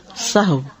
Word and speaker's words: سہو: بھی درست کر لیں۔ سہو جیسے لغو، ٹھیک ہے، کرب، نفس، سہو۔ سجدہ سہو کے اسباب،